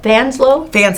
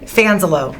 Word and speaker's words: Fanselow: Fanselow? Fanselow. Say it again? Fanselow. Fanselow. You got an extra syllable in there.